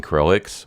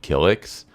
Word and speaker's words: Kilix: and I kept saying KX when it's actually kilix I don't know why I kept saying Kix I do eventually discover that I'm pronouncing the name wrong but yeah it's kilix not krx so every time I say